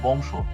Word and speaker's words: বিংশ: একেবারে বিংশ। এই বিংশ শব্দের তালবেশের সাথে একটি অ আছে। অ এর আগে যেহেতু অনুস্বার আছে এইজন্য তালবে অটা ওর উপর উচ্চারিত।